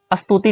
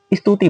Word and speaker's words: स्तुति: इसे अस्तुति नहीं स्तुति पढ़ते हैं।